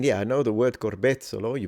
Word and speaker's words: corbezzolo: and the fruit of the strawberry tree, or corbezzolo, which is the national tree of Italy, and despite its name has nothing to do with strawberry. Is it? I mean, yeah, I know the word corbezzolo, you pronounce it really well, Max.